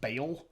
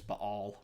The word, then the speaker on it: Baal: a Southern Baptist Church you might have heard pronounced baale Bale that's not accurate there's actually an apostrophe here and it's B all but you know okay